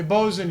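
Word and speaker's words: boatswain: a dc2 intelligence check it is funny that's spelled boat Swain boat Swain y British right 19 19 all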